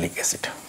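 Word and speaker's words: phthalic acid: भी रहेगा थैलिक्स इड लिखते पी से है लेकिन प साइलेंट है पढ़ते क्या है लिक एसिड कई बार नाम आएगा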